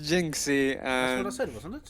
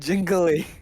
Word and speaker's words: Jinxy: say that ever bicep the name is jinxy you said jingly i'm just having it